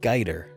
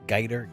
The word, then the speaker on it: Gaider: news X Bioware writer David guider I think that's a say his name is it's Gator g8 ier and Liam isler from